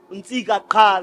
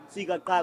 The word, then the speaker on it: Ntsika Qha: Ntsika Qha, that's on Facebook. You type Ntsika Qha, NTSIKAQHA. You're not supposed to say the Qha, by the way. The Qha is silent.